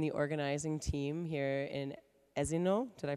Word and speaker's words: Esino Lario: our colleagues and the organizing team here in Esino. Did I pronounce it correctly, Jenny? Esino Lario, thank you.